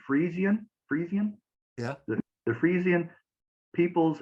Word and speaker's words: Frisian: Farmers Union yeah let me see if I pronounce this correctly Friesian Friesian yeah the Friesian peoples and describe uh